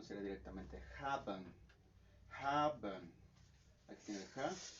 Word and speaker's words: haben: indica que tal cual el stress viene en la primera sílaba. Y en este caso, esta palabra es una palabra de 2 sílabas. Entonces el stress, digamos, la pronunciación sería directamente en esta parte, en el ha.